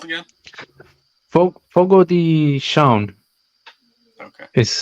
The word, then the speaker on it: Fogo de Chão: Fogo de Chão Okay. is how you pronounce it, but it reads Fogo de Chao, Chao.